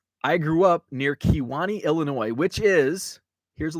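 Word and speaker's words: Kewanee: by kiwani wisconsin it's spelled with uh uh it's spelled k-e-w k-e-w-a-n-e-e kiwani so uh there's also a kiwani wisconsin over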